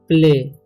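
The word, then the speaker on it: play: ठीक है, एंड प्ले। ठीक है, जब भी AY लास्ट में आता है किसी वर्ड के तो उसका उच्चारण ए होता है और लंबा होता है।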